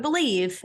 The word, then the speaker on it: BLEAV: You just have to use our promo code BELIEVE, and that is spelled BLEAV, and that will get you your 50% welcome bonus on betonline.ag, where the game starts.